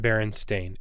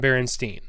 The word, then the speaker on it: Berenstain: to people about them no one's pronounced it baron stain ever it's always been berenstein and parallel universe i